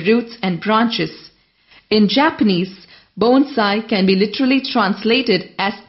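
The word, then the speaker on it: bonsai: tree in a small container the word is pronounced a bone sigh the main definition of bone sigh as an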